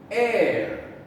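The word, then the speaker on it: heir: speak about him last air the h is silent we do not hear it honest honest we do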